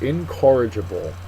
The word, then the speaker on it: incorrigible: harder our next word incorrigible incorrigible is a great word it's an adjective second syllable is accented it means not able